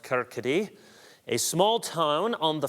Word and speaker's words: Kirkcaldy: He was born in 1723 in a Scottish city that looks like Kirkcaldy, but I believe it's pronounced Kirkcaldy, a small town on the Firth of Forth.